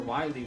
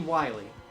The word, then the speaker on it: Wily: I know, but like, even the English spelling I think is supposed to be pronounced like vile because of, you know, the way it is spelt. I think it's still supposed to be Dr. Vile here, just with the spelling.